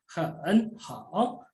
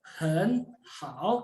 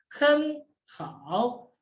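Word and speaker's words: 很好: Hen hao itu tidak dibaca lagi hen hao, tapi dibaca hen hao karena nada 3 bertemu dengan nada 3. Nada 3 yang pertama berubah menjadi nada 2.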